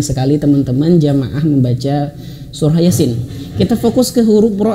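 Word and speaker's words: يس: Oke, perhatikan Yasin di sini ya dua harakat ya. Yasin. Dua harakat itu adalah satu ayunan ya. Satu ayunan gini. Nah, satu ayunan ya. Ya. Gitu ya. Yasin. Kemudian sin di sini bisa lima atau enam harakat lebih tepatnya enam harakat.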